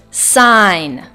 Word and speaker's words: sign: campaign and last word sign it's spelled like si GN but pronounced like sign and our next letter